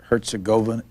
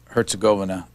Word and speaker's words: Herzegovina: are serbian or croat the accent is usually on the first syllable you have in the